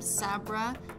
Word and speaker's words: Sabra: use is a spicy one this is from Sabra that's how you pronounce it and it just gives it a